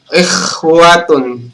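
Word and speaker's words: إخوة: Kemudian ikhwatun, teman-teman menyebut kha dengan ha itu bedakan.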